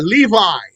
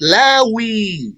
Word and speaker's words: Levi: Lawa, Levi, and it might be pronounced Lawi, Lawa or Lawi.